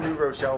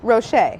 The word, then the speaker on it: Rocher: I don't think I've ever pronounced this candy correctly. I just call them New Rochelle balls. New Rochelle? New Rochelle Like balls. New Rochelle, New York. What are they called? Ferrero Ferrero. Rocher.